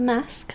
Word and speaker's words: masque: before all right the mask of the red death only mask is spelled fancy m-a-s-q-u-e so uh i don't